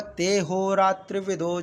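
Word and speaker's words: तेऽहोरात्रविदो: है संधि के साथ लेकिन जब यह लगा हो तो इसको उच्चारण नहीं करते कई लोग कहते कि इसको आ का उच्चारण आ का उच्चारण नहीं इसको सीधे पढ़ना है तो इसको होगा ते हो रात्र विदो जन सहस्त्र युग पर्यंत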